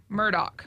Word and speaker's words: Murdaugh: Yeah, it's spelled like Alex, Alex, but it is pronounced Alec, and then their last name is pronounced or spelled phonetically Murdaugh, but they say Murdoch.